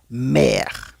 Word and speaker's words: mer: En este caso se escucharía como e, como en la palabra ergonomía o en la palabra hermano, por ejemplo. Vamos a mirar los ejemplos para que puedan ver la diferencia. Por ejemplo, en la siguiente palabra o el siguiente ejemplo que tenemos, diríamos mer. Mer. Si se dan cuenta, yo no digo mer, sino mer, como e.